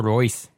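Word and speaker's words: Reus: note Thomas Muller I don't know how to pronounce this one Marco Rios Marco Royce thank you and Tim Oh Verna along with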